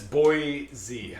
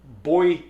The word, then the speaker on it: Boise: Boise James and Mark according to Google Translate audio thingy it says boy Z I know I know that's how I pronounce it this is where we're getting hung up I also pronounce it Chang the fight you changed the fight I pronounce it Boise I have noticed and observed that those who are from Boise pronounce it boyy boy poy that's just an observation poy not with New